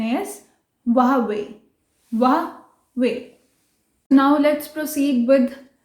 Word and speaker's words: Huawei: तो चाइना में मे बी हुआई लिखते ऐसे हैं लेकिन प्रोनाउंस वावे करते होंगे, सो it's right pronunciation is वावे।